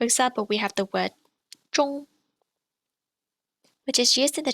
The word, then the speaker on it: 中: ONG is pronounced like or plus ng at the end. You get ong. For example, we have the word zhong, which is used in